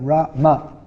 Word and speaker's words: Rama: So you have Ra Ma.